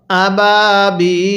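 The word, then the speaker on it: أبابيل: ওয়াও আলিফ ইয়া এর পরে যদি ওয়াকফ করা হয় তাহলে সেখানে তিন আলিফ টানতে হয় যেমন এখানে ইয়া এর পরের হরফে ওয়াকফ করা হয়েছে লামের মধ্যে এজন্য এখানে তিন আলিফ টানতে হবে তাহলে কিভাবে পড়বো আবাবিল হ্যাঁ আমার সাথে পড়বেন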